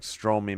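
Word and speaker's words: Strome: I think it's Stro. I used to say Stroy. Pretty sure it's Stro. Do I have the right one? Yeah. Stro, Stro, and Stro. Okay. Not like Stroy, my homie.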